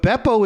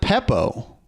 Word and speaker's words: Beppo: wait, you wrote Bucca de Beppo, but Beppo is still the word. It's not Peppo. There's no P, so why?